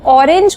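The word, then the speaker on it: オレンジ: में लिख देंगे हम, या जापानी प्रोनाउंसिएशन उसको देते हुए हम बोलते हैं ऑरेंजी।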